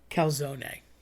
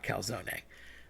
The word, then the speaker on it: calzone: So everybody wants to say calzone. I get it. You're lazy. You don't want to say the E on the end. Here's my problem with that. Being a linguist and speaking Spanish and Italian, I can tell you, you don't want to say that. You don't want to drop that E.